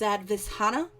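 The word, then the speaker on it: Svadhisthana: Again, that is pronounced Sadvisthana or sacral chakra.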